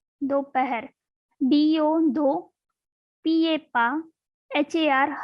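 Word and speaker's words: दोपहर: Afternoon means dopahar, dopahar, dopahar.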